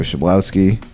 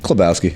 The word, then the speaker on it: Klebowski: We have Joe Shablowski. I pronounced that right? Sure. Did I? I mean, if you were Polish, you would say Klebowski. Oh. But yeah, how do you pronounce it? Klebowski.